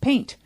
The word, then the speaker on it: PNG: big ones of course there is the PNG pronounced paint and JPEG and even GIF we do for